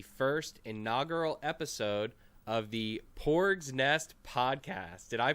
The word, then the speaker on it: Porg: Didier here, and welcome to the first inaugural episode of the Porgs Nest Podcast. Did I pronounce that right? Is it Porg?